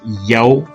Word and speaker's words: Yah: to Strong's Hebrew 3050 it defines yah in Psalms 68:4 as Yao phonetically a short form which